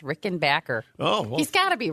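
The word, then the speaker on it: Rickenbacker: oh excuse me Tom Petty said everybody's been pronouncing it wrong it's Rick and Backer oh he's got to be right I would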